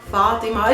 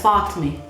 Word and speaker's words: Fatima: Fatima. It's mainly used as like the real pronunciation of it, which is Fatima. Like in Palestinian Arabic, we would simplify it as Fatmi. Fatmi instead of Fatima.